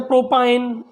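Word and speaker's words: propyne: करेंगे आइन से, जैसे एथाइन, ठीक है, जैसे प्रोपाइन, जैसे ब्यूटाइन, इस तरह से हम उसको प्रोनाउंस करेंगे।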